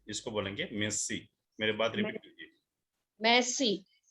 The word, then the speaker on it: merci: हो सकता है आपको फ्रांस जाना पड़े, तो फ्रेंच में थैंक यू को बोलेंगे मेसी। मेसी। किसको सीखना है मेरे साथ? रेज हैंड कीजिए। इसको प्रोनाउंसिएशन सिखाता हूँ मेसी का। रजनीकांत, किसी को और को चांस दीजिए। रजनीकांत। मुक्ति दवे। मुक्ति दवे। यस सर। ये फ्रेंच वर्ड है, MERCI, तो ये मेरसी भी नहीं है, इसको बोलेंगे मेसी।